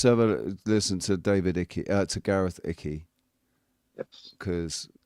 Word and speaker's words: Icke: And I'd like to welcome to the stage Gareth Icke, everyone. Please make some noise. Thank you. Pronounced his name wrong, love. His name's Icke. Gareth Icke.